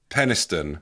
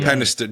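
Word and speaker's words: Penistone: Beo of Penniston. Is that how you pronounce it? Yes, you pronounced that correctly. Penniston.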